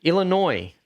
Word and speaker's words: Illinois: in Chicago Illinois oh Illinois the S is silent yes silly cuns y